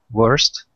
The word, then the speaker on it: worst: Worst. Worst, yeah. That's instead of saying worst, it's an O, yes, but we pronounce it like worst.